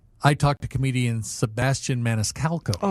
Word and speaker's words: Maniscalco: talked to comedian Sebastian Maniscalco. I always pronounce his name wrong. Maniscalo. That last C that always gets me too.